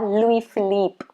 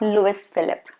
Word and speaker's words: Louis Philippe: louis vuitton okay and then you have louis philippe louis philippe not lewis phillip no that's wrong not louis phillip it's supposed to be louis philippe again shirt brand then